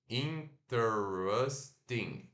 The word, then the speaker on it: interesting: interesting, interesting, interesting, interesting, tá?